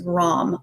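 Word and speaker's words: ram: guys so definitely digestive so the tibetan seed syllable for this is rom r-a-m now the beauty about this is you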